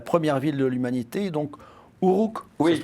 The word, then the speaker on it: Uruk: Vous racontez l'histoire de la première ville de l'humanité, donc Uruk, ça se prononce comme ça, et la ville du désir.